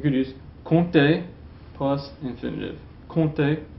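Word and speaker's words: compter: use con plus infinitive con plus don't pronounce the P so for example um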